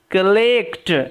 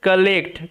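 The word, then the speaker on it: collect: ওকে, তারপরে the gardener used to কালেক্ট, এটার উচ্চারণটা হচ্ছে কালেক্ট, কলেক্ট পড়লে কিন্তু ভুল হয়ে যাবে, ক নয়, হ্যাঁ এখানে একটু এইটাও ব্যতিক্রম, ওয়ের উচ্চারণটা আয়ের মতো হবে, কালেক্ট, কালেক্ট মিন্স সংগ্রহ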